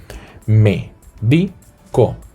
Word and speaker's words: médico: En la antepenúltima sílaba, ¿de acuerdo? En la tercera, ¿sí? Médico.